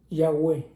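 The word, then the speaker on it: Yahweh: Pero somos, con todo respeto, eh, se dice Yahweé, la palabra de Dios, Yahweé lleva dos Hes intermedias, que es un sello divino.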